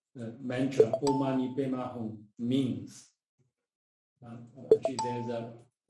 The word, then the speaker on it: Om Mani Padme Hum: But if you have to read it, how to say correctly, pronounce it correctly, Om Mani Padme Hum, then you will, how to say, your prayer will be heard by the Bodhisattva Avalokitesvara.